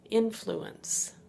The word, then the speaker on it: influence: Seems like a joke, seems like a bad joke, but this word is influence.